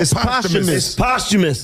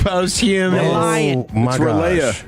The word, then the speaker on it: posthumous: Is it posthumous or postumous? Which one is it? You're lying. Oh my gosh. You're lying. It's posthumous.